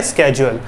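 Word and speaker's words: schedule: अब देख लेते हैं बेटा इसका स्केड्यूल, इसको आप शेड्यूल भी कहते हैं, इसका राइट प्रोनाउंसिएशन होता है स्केड्यूल, राइट।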